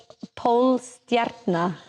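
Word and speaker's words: Pólstjarna: So Polstjarna. So Polstjarna. Stjarna. So yes, Stjarna is star. If you didn't roll your R and you wanted to say it without rolling your R, I would say Polstjarna.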